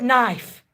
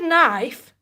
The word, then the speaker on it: knife: for example the word knife the word knife why do we need the letter K and the word Norm